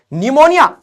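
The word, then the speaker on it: pneumonia: निमोनिया तो ये ऐसे हो जाएगा, अरे ये तभी तो निमोनिया ना, पी लगाना पड़ेगा, पी लगाना, पी निमोनिया।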